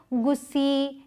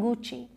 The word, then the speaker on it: Gucci: तो जैसे नाइक नहीं प्रोनाउंस करते, नाइकी करते हैं, वैसे इसे गुस्सी या गुकी ऐसे नहीं प्रोनाउंस करते, इसे प्रोनाउंस करते हैं गुची, गुची।